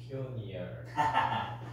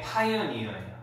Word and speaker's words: pioneer: 자, 드니, 이거 발음? 퓨니얼. 윤호, 이거 발음? 파이니얼.